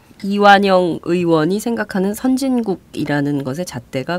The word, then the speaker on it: 이완영: 얘기를 해보도록 하죠이 새누리당 이완영 의원입니다 여러분 이완용이 아닙니다 발음 잘하셔야 됩니다 예